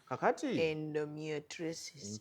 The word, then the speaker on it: endometriosis: The second commonest cause is what we call endometriosis. Mhm. Endometriosis. Endo Endo me me triosis. Metriosis. So, you pronounce it as one word.